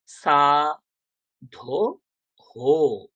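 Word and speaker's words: সাধোঃ: তো ওকারের সাথে বিসর্গের উচ্চারণ কি হবে, হো উচ্চারণ হবে, তাই না, হো। একদম সিমিলারলি কি হবে, সা ধো হো, সাধু হো। তো ওকারের পরে বিসর্গ থাকলে হো উচ্চারণ হয়, এইগুলো আমাদেরকে শিখতে হবে।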